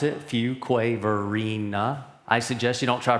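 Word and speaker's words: Fuquay-Varina: And this is how you pronounce it. Fuqua Verina.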